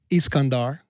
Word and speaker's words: Iskandar: So Kandahar actually comes from Iskandar, which is how you pronounce Alexander in their language.